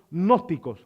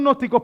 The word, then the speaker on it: gnósticos: Había un grupo que se había levantado que se llamaba los gnósticos, no los agnósticos, sino los gnósticos. Se escribe G-N-O-S-T-I-C-O-S. Los gnósticos, no se dice gnóstico, ¿ok? Es gnósticos, ok, los gnósticos.